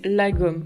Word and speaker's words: lagom: prononciation donc en fait ça s'écrit comme ça et ça se prononce la gomme voilà faut pas aller